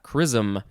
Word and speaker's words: chrism: next we have charism yeah chrism it's like prism with a k noun from before the